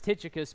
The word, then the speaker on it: Tychicus: that otherwise but the the typical english pronunciation that i've heard is titicus but if you were a greek speaker from the first century you'd probably say it a little differently but chris and i